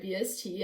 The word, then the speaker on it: Hibst: well, you might have seen how my name is spelled, and it's actually Hibst, and a lot of people, how do you say it?